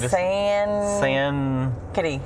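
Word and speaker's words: Sankaty: my house was it skank today oh yeah sand kitty sand kitty thinking it's c etsy we're from texas it's hard to pronounce things it's s-a-n-k-a-t-y yes and it ended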